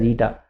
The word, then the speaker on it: eta: elastic moduli rigidity modulus rigidity modulus denoted with ITA it must be pronounced as ITA and within the elastic limit the ratio of